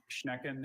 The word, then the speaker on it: Schnecken: Schnecken has just the one pronunciation.